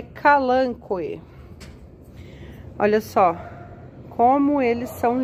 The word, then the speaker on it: Kalanchoe: chamar mesmo né mas dizem aí que a pronúncia correta é calango Olha só como eles